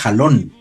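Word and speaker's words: חלון: Y los rabinos hacen la comparación con la palabra halón, que se escribe Het, lamed, vav, nun sofit, que significa ventana.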